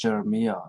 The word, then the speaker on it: Geremia: Jeremiah, I mean, sorry, his name is Geremia, so it's almost the same pronunciation. I mean, I think it's actually pronounced Jeremiah as well.